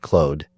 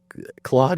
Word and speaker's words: Claude: But yeah, Claude is a French name, and in French it's Claude. It's pronounced. Yeah, so exactly. Whatever. It is what it is. And someone answered. They said Claude, like CLAWED. I think that's what you're getting at, is closer to the English pronunciation, and Claude is closer to French.